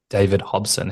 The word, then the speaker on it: David Hobson: You also have another collaboration and you've got shows on sale, I think, all around Australia with David Hobson.